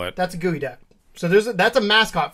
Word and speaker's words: geoduck: phone to look up was it a gooey duck yeah it's spelled g